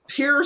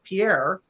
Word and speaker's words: Pierre: happy all you know there's Pierre South Dakota it's not Pierre and it's like that's just